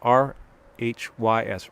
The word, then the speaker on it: Rhys: limited series with um matthew rhys reese how do you pronounce it if it's welsh r-h-y-s rhys yes rhys um uh and